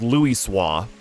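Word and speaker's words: Louisoix: this name oh okay it's supposed to be like French it's Louis SWA yeah there's a lot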